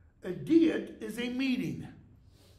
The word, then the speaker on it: Diet: happened in 1521 okay notice the pronunciation DEET a DEET is a meeting it's